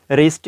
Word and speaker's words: wrist: हो जाना चाहिए कि W के बाद अगर HR आ जाते हैं तो W की जो साउंड है वो साइलेंट हो जाएगी। और इसी हिसाब से जैसे देखें शुरू में लिखा हुआ है रिस्ट, WRIST, रिस्ट, तो जो